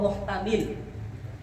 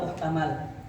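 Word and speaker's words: محتمل: Bahkan dalam satu tempat ada kata wafihi wahua muhtamil. Bacanya muhtamil wala muhtamal. Dua-duanya bisa dan dua-duanya punya mafhum yang berbeda.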